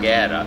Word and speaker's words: Guerra: Guerra. The U is silent.